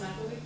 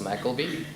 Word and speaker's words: McElwee: Ross McElwee. Ross McElwee?